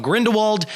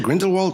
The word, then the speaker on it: Grindelwald: Is it Grindelwald or Grindelwald? Well, okay, so if you want to pronounce it properly, it would most likely be Grindelwald. Yeah. But all the Americans in the film say Grindelwald.